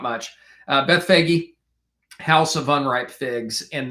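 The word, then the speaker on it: Bethphage: Uh, Beth Fagi, house of unripe figs.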